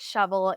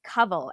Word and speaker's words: Kawal: been mispronouncing my name it's not shovel it's COV and you could tell